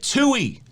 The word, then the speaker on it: TUI: number five tui cruises they say it two e two e cruises how